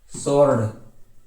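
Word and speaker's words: sword: फिर आगे बढ़ते हैं, साइलेंट डब्लू, डब्लू को भी शांत किया जाता है, देखो answer, सोर्ड, to, whole, wrist, right, rap, wrinkle, rat, rake, racial, rain, ranch, racial, right और रिगल।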